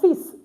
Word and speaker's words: fils: So yeah, fils. This S is pronounced at the end. It's an exception. Normally we don't pronounce it, but this S is pronounced at the end. It's fils. Fils, son.